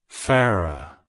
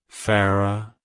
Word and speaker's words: Farrah: Joy it's pronounced as Farah Farah Farah to pronounce it correctly emphasize the fa and roll the r slightly it's a soft flowing